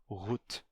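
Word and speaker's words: goed: e G do Alemão em holandês se pronuncia rut certo Então aí lá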